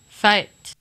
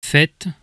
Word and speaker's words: fête: So in Quebec French, we have fête. But in Metropolitan French, there's fête.